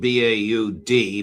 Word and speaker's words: Baud: So Colonel Baud, spelled B A U D, but pronounced Baud, uh is a Swiss citizen.